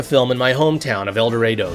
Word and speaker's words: El Dorado: I even set the film in my hometown of El Dorado. Yes, that's how we Kansans pronounce it, making the plot about